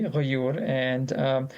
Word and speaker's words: Ghayyur: Ghayyur is an Arabic word, and you pronounce it very correctly, Ghayyur.